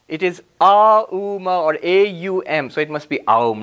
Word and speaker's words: Om: four aspects of ohm it literally says four letters of ohm what are they in English we say au m and then silence after that in sanskrit the club actually AUM is the closest we can get in Sanskrit Oh